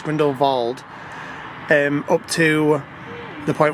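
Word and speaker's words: Grindelwald: tell you that that the gondola ride from grindle va grindle va I kept saying grindle Wald all day grindle it's spelled grindle Wald but it's grindle VA um up to the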